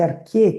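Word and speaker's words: arché: do que é arqué, que se escreve A-R-C-H-E, acento no E, né? Então vejam só, a ideia de arquê, aquilo que está no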